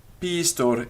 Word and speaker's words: pistor: Pistor is a baker, and it has hidden quantity. That means that it's got a long I before the st, but we couldn't tell just by looking at the word.